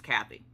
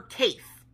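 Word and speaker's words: Cathe: Her name is Kathy. Her name is spelled C-A-T-H-E. I kept calling her Kaith or anything of that sort because that's what I thought her name was.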